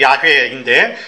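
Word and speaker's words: 야훼: 해 신학적으로 해석하면 그리고 여호와 뭐 좀 더 정확한 발음이 야외인데 그 이름의 의미를 그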